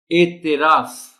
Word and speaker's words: اعتراف: تلفظ ہے افادیت، انسانیت۔ اعتراف، تے کے نیچے زیر کا خاص خیال رکھا جانا چاہیے۔ اعتراف، شمولیت، اب دیکھیے افادیت